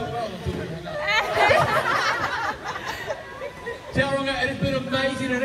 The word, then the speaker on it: Tauranga: I live here, so I know that you don't pronounce the G. Duh. You hung up, right? Let's know. And I'm back slightly out of pizza, mate. You were doing so well until we hung up. Tauranga, it has been amazing